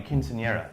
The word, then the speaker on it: quinceañera: Now they're coming back at a higher level for a, how do you pronounce that, quinceañera? Yeah, like a quinceañera.